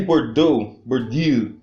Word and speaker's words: Bourdieu: O francês Pierre Bourdieu, eu cheguei a fazer curso de francês, só